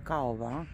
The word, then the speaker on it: Kauver: не передаёт так вот название магазина Мне кажется читается коф но все говорят Кава магазин может быть но